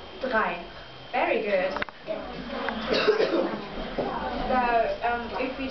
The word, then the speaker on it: drei: Drei. Drei. Very good. So, if we just say the first three numbers, so, eins, zwei, drei.